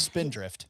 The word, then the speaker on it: Spindrift: That was Spindrift. It begins with an S and rhymes with Mindrift.